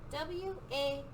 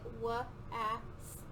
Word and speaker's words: was: And when we spell was, we spell it W-A-S, was. It doesn't sound, if we were to sound it out, like we know how to sound out words, it would sound like wa-as, was.